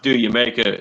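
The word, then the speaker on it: D'yer Mak'er: It's pronounced "Do Jamaica." It's supposed to be like a joke, like Jamaica.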